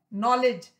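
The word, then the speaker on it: knowledge: यह सारी नॉलेज में इसमें के जो है वह साइलेंट है जब किसी किन्नर को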